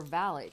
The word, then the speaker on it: valet: his CFO, and even his valet, or valet, if you want to use the British pronunciation.